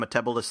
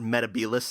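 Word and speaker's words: Metebelis: The doctor um in this episode, he makes use of a blue crystal from Metabolis 3. Ah, which is um a planet that was often mentioned in the John Peru era, but it's pronounced Metabilis 3.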